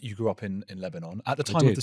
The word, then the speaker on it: Lebanon: It's just the do you where do you where the emphasis is at the beginning? Yeah, yeah, yeah. Lebanon.